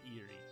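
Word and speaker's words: Irie: Eerie. Okay, it actually is pronounced eerie. Very good then.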